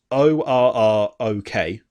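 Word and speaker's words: Orruk: And then orcs have become, it's ORROK. So Orc. But if you say it quickly, it just sounds like orc.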